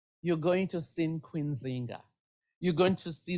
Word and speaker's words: Nzinga: going to see Queen Zinga. You're going to see the pronunciation may be different. It's going to be Njinga, Nzinga, or everything.